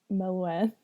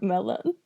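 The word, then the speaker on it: Melun: own school at Mel I believe you mean melan or Melon melon melon like a fre sure if that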